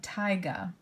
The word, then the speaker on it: taiga: biome is called taiga I know that AI is a little confusing but taiga and as we look